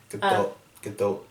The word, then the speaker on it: Gadot: Gadot. But she says it with a prominent T.